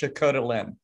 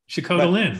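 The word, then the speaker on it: Sikhote-Alin: Yeah, I've always heard it pronounced Sukhot Alin. Sukhot Alin, there you go. There might be different emphasis on different parts of that word.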